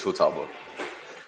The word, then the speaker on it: Futaba: Um, actually, let's just start out by Hey, Futaba. Is am I pronouncing that right? I have no idea anything about No, you're pronouncing it. You're pronouncing it correct. It's Futaba.